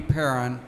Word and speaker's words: Perron: This session, Aging in Place with Assistive Technology, is being presented by Amy Perron. Did I pronounce that right?